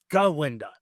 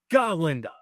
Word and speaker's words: Galinda: AP on him like you pronounce it correctly it's galinda not ginda galinda and there seems to be a little Theory